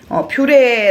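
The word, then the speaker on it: purée: 쿨리 , 퓌레 , 또는 ' 퓌르 ' 라고 적혀 있지만 , 실제로 우리 가 가장 자주 사용 하는 용어 는 퓌레 입니다 . 또한 ' 표 ' 라고 발음 되는 경우 도 흔합니다 .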